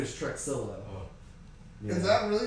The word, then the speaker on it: Truxillo: I think it's actually Trujillo. Seems like the X would be a little silent.